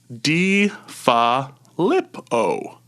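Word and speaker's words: DeFilippo: in the Star Tribune just so we're all accustomed to saying D ha lip o defillippo john deuf g'd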